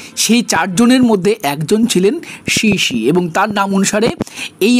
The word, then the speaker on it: Xishi: হয় না এই আমটাকে অনেকে ইলেভেনশাই বলে অনেকে ডিসি ম্যাংগো বলে কিন্তু এর একচুয়াল নাম শিশি ম্যাংগো এরা চাইনিজ একটি আম